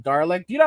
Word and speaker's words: Dalek: I think it's like Darlek. Do you know how to pronounce that right? It's from Doctor Who. Yeah. Dalek. What? Dalek. Is that how you pronounce it?